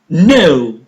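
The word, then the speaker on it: know: No. No. The initial K is silent.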